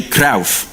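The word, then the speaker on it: Cruijff: His name is actually His name is actually Kra. That's how it's pronounced in Dutch.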